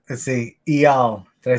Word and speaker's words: Eyal: And your name, let's see, Eyal. Did I say it right? Eyal, yes.